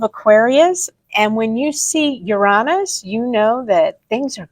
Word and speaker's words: Uranus: Yes, Uranus. That is how it's said. If you say it any other way, you're being silly.